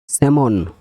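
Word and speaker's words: salmon: পাম মানে তালু পাম পি এলম এখানে এলটা সাইলেন্ট এটা পাম পি এম পাম মানে হাতের তালু স্যামন এস এ এল এমন স্যামন মানে সমুদ্রিক মাছ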